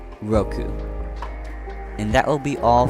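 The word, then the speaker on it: 六 (roku): but not least is number six which is pronounced Roku Roku and that will be all for today Mountain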